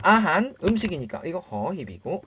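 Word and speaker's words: อาหาร: 음식 아한 아한 할 때도 리을 받침이 왔네요. 하지만 발음은 뭐다? 니은이다. 그쵸? 아한.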